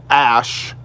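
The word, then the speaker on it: Æ: I do believe his most recent child was named X Ash A12, and the reasoning behind this was X is the unknown variable in both, math and science. And Ash, which is spelled A-E, is actually Elven, like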